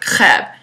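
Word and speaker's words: crêpe: going to be making crepes in France you pronounce it CB but if you did that in America probably you would just get did a cough drop so we're going to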